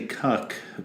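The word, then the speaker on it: Kuc: history minute with John I always say cuck but I'm not 100% sure but that's actually how you pronounce his last name of K you see and he's really one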